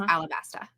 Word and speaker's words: Alabasta: So in Japanese, the L and the R are kind of interchangeable, I think.